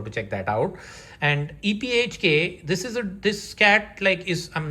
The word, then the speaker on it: EPHK: This one is by Patrick Kindlon, and the artist's name is EPHK. That's how you pronounce it. I'm not just saying it, but I asked him, and this is what he told me.